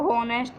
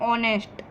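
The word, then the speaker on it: honest: क्योंकि यहाँ पर जो होनेस्ट है इसे हम हॉनेस्ट नहीं कहते हैं, इसे हम कहते हैं ऑनेस्ट। यहाँ पर एच साइलेंट होता है, इसलिए यहाँ पर हम AN का उपयोग करेंगे।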